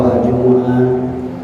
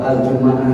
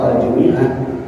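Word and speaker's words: الجمعة: dengan di kasrah mimnya yaitu aljumiah ini agak janggal Saya kira kalau aljumuah di aljumah diukun atau aljumaah dipatah Saya kira tidak jangal gitu banyak ulama yang membaca dengan tiga cara baca tersebut Tapi kalau aljumiah ini saya kira ada sedikit janggal gituajukan tetapi ada ada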